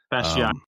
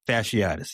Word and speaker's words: fasciitis: I'm not gonna try to pronounce the word. Fasciatis. Fasciitis.